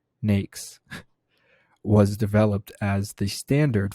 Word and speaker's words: NAICS: american industry classification system nakes pronounced nakes was developed as the